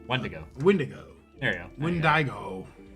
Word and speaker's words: Wendigo: Yeah, put the emphasis on the first syllable. Wendigo.